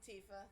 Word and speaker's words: Tifa: But Tifa, I don't know how you pronounce her name. Tifa, thank you.